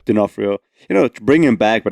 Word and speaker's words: D'Onofrio: Is that how you pronounce his name? Vincent D'Onofrio, yeah. D'Onofrio.